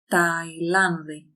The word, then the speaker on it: Ταϊλάνδη: Here we see the use ofτικά to separate alpha and from being pronounced together as a double vowel. Tailand.